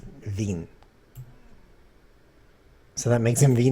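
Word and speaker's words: vingt: 2020 says that too in French in 20 is pronounced Veen so that makes him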